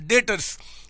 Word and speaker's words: debtors: डेटर्स हो गए, DEBTORS, डेटर्स। यहाँ पे डेटर्स में बी साइलेंट होता है, हम बोलते हैं डेटर्स, बी साइलेंट होता है, डेटर्स इसको बोलते हैं।